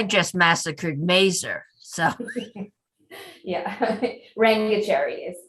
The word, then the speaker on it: Rangachari: pronounced his name because I just massacred Mazer. So yeah, Rangachari is it's Dr.